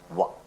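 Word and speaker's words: و: And in the second lesson, if you remember, I did inform you how to articulate, how to pronounce wa. You make your two lips round and then open.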